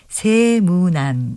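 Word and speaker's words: 세문안: 붙이는 경우에는 짧게 발음하는데요 여기서 새해는 길게 발음하는 한자기 때문에 세무남 이렇게 발음합니다 다른 말 고운 말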